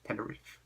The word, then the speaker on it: Teneriffe: But the catch here is it's got 2 F's. So, basically, it's Teneriffe, but you have to pronounce it Teneriffe. Riff.